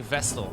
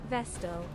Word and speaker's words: Vestal: I think my favorite character in this game so far is the vessel. It's very boring. Am I even pronouncing the word correctly? Vestal.